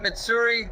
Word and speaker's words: Mitsuri: And next to it, Mitsuri.